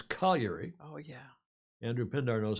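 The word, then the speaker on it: Cagliari: in southern Sardinia it's colliery oh yeah Andrew Pinder knows how to pronounce that better than I yes it's not cogliari like all the anglos pronounce it colliery in Sardinia Southeast corner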